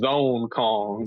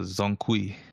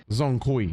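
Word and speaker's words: Zhong Kui: Black Myth Zone Kong. Zone Kong? No, Zonkui. Zone Kui.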